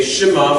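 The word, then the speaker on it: שְׁמַע: Okay, Shema, which is why we say it like that, because you have that Shiva there.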